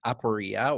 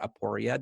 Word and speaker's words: aporia: say it's uh we use a Greek term aporia or aporia depending on how people pronounce it which just means like an irresolvable